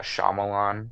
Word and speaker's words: Shyamalan: I don't know if that's how you pronounce his name. Who? M. Night I know it's Shyamalan? M. Yeah, Shyamalan. Yeah, that's how you pronounce it.